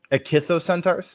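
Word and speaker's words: ichthyocentaur: thing that's not called that but I'm not pronouncing that either it kissed those centaurs say that again akithos centaurs yeah there you go now preserved as a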